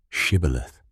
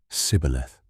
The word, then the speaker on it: Shibboleth: Then they would say to him, "Please say, 'Shibboleth.'" And he would say, "Sibboleth." For he was unable to pronounce it right.